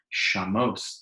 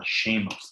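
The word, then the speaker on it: שֵׁמוֹת: Atikri shamos, don't pronounce it as shamos, as devastation, ela shemos, that he gives names, that there are different names in the world.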